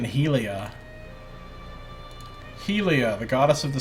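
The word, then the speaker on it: Hylea: question right actually doing I notice he pronounced her God's name Helia I've been pronouncing it halia this whole time I guess I need to start pronouncing it Helia Helia the goddess of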